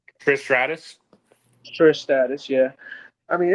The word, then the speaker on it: Trish Stratus: And then Tiffany Stratton versus Trish Stat. Uh I can't say her name. Trish Stratus.